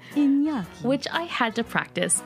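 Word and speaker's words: Iñaki: Because it's a Basque name, which is super cool.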